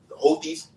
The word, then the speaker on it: Houthis: It's bombing the Houthis, the Houthis.